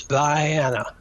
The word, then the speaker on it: Vienna: not cleveland because uh cairo georgia is pronounced cairo cairo georgia i mean it's just and vienna georgia is by anna uh it's a legacy